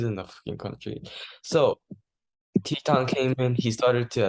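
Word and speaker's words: Titán: Titan, if you're going to pronounce it in the Spanish way. Teton.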